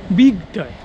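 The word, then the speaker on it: Bygdøy: হ্যাঁ, তো এই আইল্যান্ডটার নাম হচ্ছে বিগ ডয়, মানে নরওয়েজিয়ানে এরকম উচ্চারণ করে।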